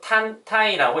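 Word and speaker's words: 単体: 라고 합니다 혼수 물질 일본으로 는요 단체 라고 쓰고 탄 타 이라고 읽어주시면 되겠습니다 탄 타이 답은 의미는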